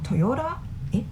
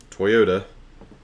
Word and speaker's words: Toyota: 10 Japanese brands you pronounce wrong. Asagi, have you had cars from Toyota?